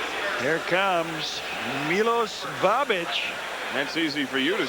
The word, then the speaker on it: Babic: Here Comes Milos babic that's easy for you to say yes even though it looks like he's missing the H in the back of his jersey that's the way it's